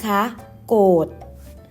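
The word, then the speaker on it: โกฏิ: ต่อ ไป คำ ว่า โกรธ นะ คะ อ่าน ว่า โกรธ อ่าน อีก ครั้ง นะ คะ โกรธ โกรธ คำ นี้ นะ คะ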